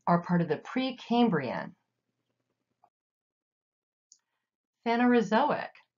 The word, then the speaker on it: phanerozoic: the last three are part of the Precambrian phanerozoic zo ick phanerozoic phanerozoic means visible life Precambrian Precambrian within the